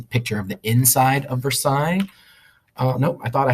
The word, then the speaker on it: Versailles: mean but it's pronounced Versailles because it's French so in French they always have lots of extra letters at the end um that you don't have to pronounce Versailles anyway and the point